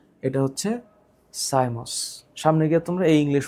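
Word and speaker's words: cymose: এখানে উচ্চারণটা একটু মনে রাখো। একটার নাম হচ্ছে রেসিমোস। একটার নাম রেসিমোস। আরেকটার নাম সাইমোস।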